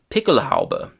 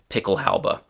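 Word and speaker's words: Pickelhaube: Um the next German word from this area is picklehala. So actually that's the German pronunciation picklehala and in English the pronunciation is very similar picklehalba.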